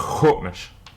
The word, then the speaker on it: Sḵwx̱wú7mesh: just hope and Mitch hold Mitch the seven in the middle of the word is just telling you that there is a glottal stop or a brief pause after the vowel first bottle you can